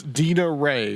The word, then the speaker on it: Dina Rae: the conversation takes us so it's it's it's DITA ray right yes excellent excellent okay someone make sure they get names pronounced right all right well we're ready to